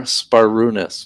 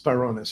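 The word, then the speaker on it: Sbarounis: So it's like Spar. SBAR is Spar, Sparunis. Sparunis.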